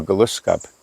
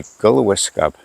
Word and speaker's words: Glooscap: But before I do, I want to mention about our person that we looked up to, Glooscap. That's a mispronunciation because it should be Glooscap, which means a good man.